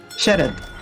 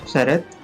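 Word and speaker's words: Sarath: How do you pronounce it? Sharad. S-A-R-A-T-H. Sharad.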